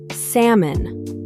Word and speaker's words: salmon: Salmon. The L is silent, pronounced salmon.